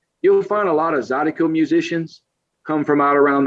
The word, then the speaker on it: zydeco: You So gotta learn isn't about isn't the music Zadigo? Is it. that Zydeco. what is it called? Z- Zydeco.